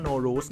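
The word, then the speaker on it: Nowruz: No Root New Year คำ ว่า No Root ตรง นี้ สามารถ อ่าน ได้ หลาย แบบ มาก นะ ครับ ซึ่ง ใน ที่ นี้ ที่ เรา หา ข้อ มูล มา นะ ครับ อ่าน ว่า No Lose นะ ครับ No Root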